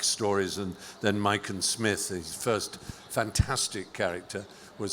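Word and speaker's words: Psmith: and then Mike and Smith. His first fantastic character was Smith with a silent pee like uh Tomigan and pneumonia.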